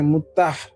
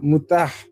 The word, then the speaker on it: মুতাহ: তারা এটাকে চমৎকার করে মুতাহ আসলে উচ্চারণটা হচ্ছে মুতা না মুতাহ এই মুতাহ বিবাহটা করে